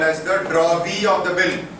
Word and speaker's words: drawee: It's drawee of the bill. D-R-A-W-E-E. Drawee of the bill. W is silent.